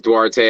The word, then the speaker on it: Duarte: I go by both but it rolls off the tongue better as dwarte everybody says dwarte I grew up on dwarte all the homies back on the Block and in high school and all that stuff called it that way broken down phonetically which is why I used it for my logo it's broken down as do art which is what I